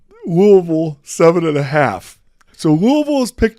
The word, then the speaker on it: Louisville: Yeah, That's no how they L. pronounce it in Yeah. Kentucky. Louisville.